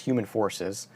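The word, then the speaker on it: whomanfoursays: but it's it's spelled who man forces it's pronounced human forces uh from 1988 from 1984 uh if you're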